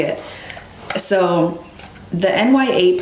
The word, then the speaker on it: Nya: So the NYA part in Nur, it means that, just like nya, NYA, it's not naya, it's nya.